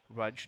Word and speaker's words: Rudge: that we have fudge fudge. Rudge, not fudge. It's Raj sounds like fudge. My bad. Apologies. Like fudge is how um how the pronunciation was explained to us.